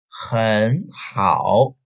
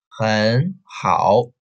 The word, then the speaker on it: 很好: Here is a third tone meet another third tone in one word. So we change the first one into the second tone. 很, 很, 很好, 很好. Only the first character, only the first syllable change the tone. The other don't be changed.